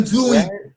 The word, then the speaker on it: doing: Quando a gente aprendeu essa colocação, é muito importante nunca pronunciar o G. I am doing. Não pronuncia o G, não, hein? Acaba com a letra M, a voz, ó. A língua acaba na letra M.